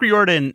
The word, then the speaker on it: Riordan: on and it's also rick riordan or ryan yes like the bread okay yes uncle rick